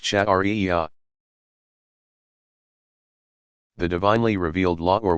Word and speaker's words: Sharia: The outcome of all this study and interpretation is called Sharia, pronounced Shari'iyah.